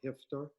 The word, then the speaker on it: Haftar: He's been stymied in Libya precisely because there is an international coalition that backs the opposition general, General Haftar or Hifter, based on your pronunciation.